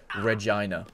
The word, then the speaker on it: Regina: she'll figure it out it's pronounced Regina got it like vagina with an R it who the [